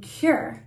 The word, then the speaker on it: Qür: reviewing today it is chapstick from cure and it's spelled q-u-r and isn't it cute